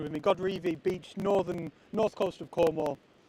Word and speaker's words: Godrevy: Peter, I am in Godrevy, as Tess kindly shared the correct pronunciation with me. Godrevy Beach, north coast of Cornwall, but it's down South Cornwall, so that's not confusing.